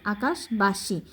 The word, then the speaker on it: আকাশবাসী: আকাশবাসী, এই যে আকাশ সরে কয়কার কা তাল বসা, আকাশ এটা আলাদা উচ্চারণ করবা, তারপর বয়কার বা দন্তশাসী, আকাশবাসী।